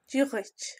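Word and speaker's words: Dia dhuit: This is where I learned the pronunciation. Giahoich.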